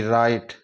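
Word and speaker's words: write: इसकी ध्वनि हो गई राइट डब्लू को साइलेंट करने के बाद में आर आई टी की ही ध्वनि निकलेगी उच्चारण होगा राइट इसी तरह डब्लू आर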